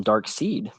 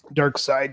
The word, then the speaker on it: Darkseid: Um, so you call him Dark Seed. Dark Side, Darkseid, yeah. I've It's I've because I'm always reading, wondered because it's spelled Dark Seed. yeah, and it's Dark Side.